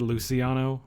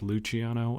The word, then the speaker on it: Luciano: a character um and she said luciano and it's pronounced luciano and everyone says luciano and it makes me